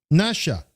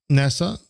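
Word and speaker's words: נשא: Um, Nasha, NASA, because they say the sh. This word pronounced with the sh sound means to bequill or deceive in Hebrew.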